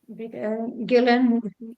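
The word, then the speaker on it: Guylaine: LinkedIn Lydia Gillan fer Gillan just like in French in in England you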